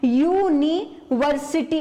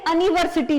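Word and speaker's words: university: है तो ये वॉवेल, लेकिन जब इसका प्रोनाउंसिएट किया गया, प्रोनाउंसिएशन के टाइम पर ये यूनिवर्सिटी निकलता है, ना कि ये अनिवर्सिटी निकलता है।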